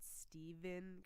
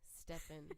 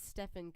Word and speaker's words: Stephen: Californian Francis says that it's not Stephen Curry like with a V Stefan I didn't even I do I mean I read I know everything spell it that way yeah well clearly I'm not a sports person if they do they could you could sing but it is Stefan curry okay wow I didn't